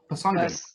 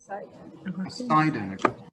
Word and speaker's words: Poseidon: Poseidon. Poseidon. Second syllable. Poseidon.